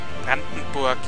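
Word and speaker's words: Brandenburg: and Siege brandonburg now Bron Borg Bron Borg is the German pronunciation and Poland are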